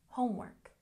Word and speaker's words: homework: Homework has stress on the first syllable. Homework, homework.